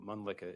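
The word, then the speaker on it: Mölnlycke: because it's kind of hard to spell and pronounce? No worries. So, Mlicka is M O L N L Y C K E.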